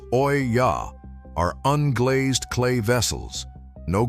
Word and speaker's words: olla: Olla pots, spelled o l l a, pronounced oya, are unglazed clay vessels.